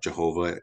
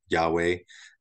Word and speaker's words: Yahweh: just like it's not Jehovah it's Yahweh the um the J is pronounced like why Acts 2 38 Peter